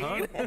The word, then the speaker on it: El Cajon: That's going to be at El Cajon. I don't know if I'm pronouncing that right. El Cajon?